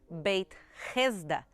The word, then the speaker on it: Beit Hesda: Aqui, a poucos metros do Portão dos Leões, a gente já encontra a entrada de Betesda, ou como se pronuncia em aramaico, Beit Hesda, que quer dizer a Casa da Misericórdia.